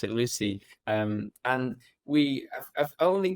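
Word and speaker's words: Lucea: uh on the Clos mon go play called Lucy spelled l us D EA but we pronounce it Lucy um and we I've only got It's a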